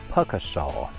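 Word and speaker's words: Pukaskwa: were correct it is puasa I verified that with the person who took our money and with the pamphlet showing the exact pronunciation the second K is silent anyway so that's number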